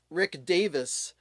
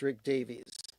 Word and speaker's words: Rick Davies: And uh, no, it's not uh, Rick Rick Davis because I know that um, Ray Davis from the Kinks, everybody pronounces his name Ray Davies and it's not that. It's Ray Davis, but Rick Davies from Super was definitely pronounced Rick Davies.